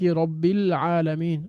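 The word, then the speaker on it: رَبِّ الْعَالَمِينَ: এখানে আমরা কিন্তু ওই যে আলের মধ্যে যে আলিফটা, সেটা আমরা উচ্চারণ করতে পারছি না, বরং কি করছি, মিলিয়ে দিচ্ছি আমরা, রব্বের বি এর সাথে আমরা লামকে গিয়ে ধরছি।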